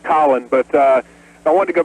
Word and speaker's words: Colin: Colin in Dothan, Alabama. Welcome to the program. Hey, Rush. Actually, it's pronounced Colin, but I wanted to go back to the San Francisco story about the school board.